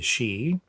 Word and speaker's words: sidhe: say is from the land of the she which is spelled s-i-d-h-e which is sometimes equivalented